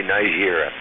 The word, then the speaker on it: Niger: I always say Nigeria. You gotta say it like it's French or you could get in trouble.